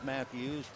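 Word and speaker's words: Mattheus: t h e but it's still pronounced Matthews he's from Elk Grove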